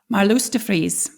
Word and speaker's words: Marloes de Vries: Help me For with an my Dutch pronunciation. Let's try it one more time. Marloes de Vries? Marloes de Vries.